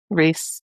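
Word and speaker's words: Rhys: Cuz it's There's one from David's perspective and then How do you say How do you say the name R H Y S? Reese.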